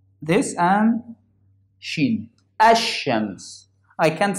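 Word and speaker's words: الشمس: So this is the sun letters. I don't pronounce lam with it. Like here, shams, ash-shams. I didn't pronounce that lam. I pronounced this and sheen. Ash-shams.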